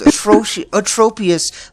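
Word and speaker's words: Atropius: oh my name is a tropius my name rhymes with atrocious kind of oh you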